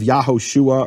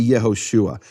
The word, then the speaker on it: Yehoshua: You can't have Yahoshua or Yahshua. It has to be Yehoshua.